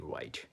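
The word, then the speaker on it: write: আরো বলতে পারি যে ডবলিউ আর আইটি রাইট রাইট has silent W এখানে রাইট শব্দে ডাবলিউটি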